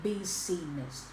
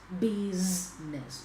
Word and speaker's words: business: business yes is business field we don't say be seist we don't pronounce this word like be seist we PR pronounce this word as beess okay buiness yes be be be and this